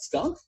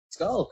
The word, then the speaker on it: skulk: was like the what how do you say that skunk oh no skulk okay but it's it's